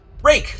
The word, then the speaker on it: Rake: i had been doing rake like the garden tool thank you i apologize